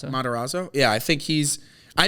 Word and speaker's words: Matarazzo: How do you pronounce his name? Matarazzo.